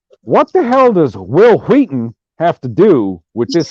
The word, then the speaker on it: Whedon: Also, H in Wheaton is silent. Jesus fucking Christ. See, I'm sorry, Jamie Vick. I'm sorry, Jamie Vick. I know that the H in Whedon done, motherfucker.